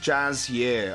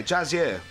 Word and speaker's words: Jiren: as well whilst we're here why not it's pronounced Jazz year okay Jazz here okay thanks for uh doing it in that